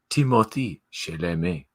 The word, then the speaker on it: Timothée Chalamet: It's pronounced Timothée Chalamet. Well, it's everything is French. Everything is French about his name, but he's from England, right?